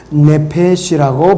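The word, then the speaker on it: נפש: 영어로 소울이고 헬라어는 푸시케라고 그러고 히브리어는 네페시라고 발음합니다.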